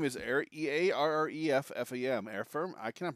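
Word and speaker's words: Earreffam: tabbies i love silvertoe i keep calling you errol your name is e-a-r-r-e-f-f-a-m air firm i cannot pronounce that name i have a really bad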